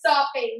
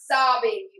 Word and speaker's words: sopping: pronunciation of that word is sopping, not sobbing.